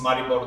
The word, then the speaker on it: Maribor: U um in svenia Mar maribor it's maribor the the bright pronunciation I know it because